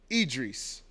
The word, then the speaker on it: Idris: I call myself Idris.